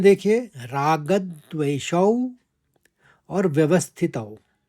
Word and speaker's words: रागद्वेषौ: दूसरे चरण में देखिए, रागद्वेषौ और व्यवस्थितौ। रागद में हमने आघात लेते रागद कहा, फिर द्वेषौ, देवशौ के संग मैंने व का आघात लिया क्योंकि आगे वाला शब्द व्यवस्थितौ है।